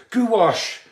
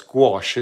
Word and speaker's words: gouache: oh yes of course goo wash someone someone told me that that it was goo wash is how you say it and of course no it's not it's gouache isn't it so that's another goo